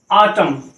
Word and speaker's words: autumn: जैसे AUTUMN, अब ये वर्ड क्या पढ़ा जाता है, ऑटम।